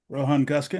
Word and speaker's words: Guskin: Rohan Goskin am I pronouncing your last name correct?